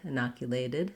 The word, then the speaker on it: inoculated: lacks if owl so ted at the end often sounds like the word did inoculated inoculated you might find